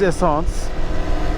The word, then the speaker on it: essence: Uh back there I said in French it's benzene. Actually it's isance. Uh benzene would would be Dutch or German or I'm sure a lot of other languages.